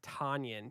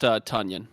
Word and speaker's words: Tonyan: and that'd be Robert Tonyan. He is going to be my next pick. For what it's worth, it's pronounced Tunyon. So Tunyon, sorry. Ton, as in a ton of stuff.